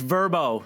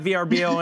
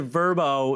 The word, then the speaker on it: Vrbo: get this right guys it's verbo it's not vrbo anymore they pronounce it verbo uh that is the